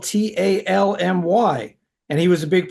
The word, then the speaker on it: Talmy: And I always thought his name was Tamley, but it's spelled Talmy.